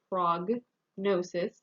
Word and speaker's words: prognosis: probe or prognosis and here the g is not silent here we say prognosis uh not prognosis prognosis